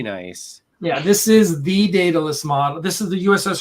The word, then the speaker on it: Daedalus: So, data is it Daedalus, like Daedalus, but Daedalus. I always say it wrong, and I just can't. I don't know why, but so think DAE would be pronounced day.